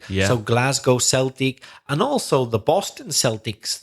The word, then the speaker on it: Celtic: have the football team Celtic right that's the only exception when it's to do with sport for some reason we should we say Celtic yeah Glasgow Celtic and also the Boston